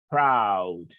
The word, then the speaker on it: proud: Lo pronuncia como si tuviera una A en vez de la O. Proud. Solo eso le va a cambiar al pronunciar. Una A en vez de esa O.